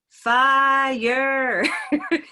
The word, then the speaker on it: fire: lot of the time this looks like a one-syllable word doesn't it it looks like a once if you look it up in the dictionary it says it's one syllable and yet everyone knows the song by the pointer sisters i'm driving in my car well the end of that song is and when we kiss ooh here we go fire took a while to get there but fire is not a one-syllable word it's